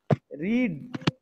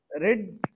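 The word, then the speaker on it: read: हाँ, third form of verb भी रीड ही है, ठीक है। यस सर। स्पेलिंग सेम रहता है और आप रेड भी पढ़ सकते हो, लेकिन आप रीड नहीं कर सकते, ओके।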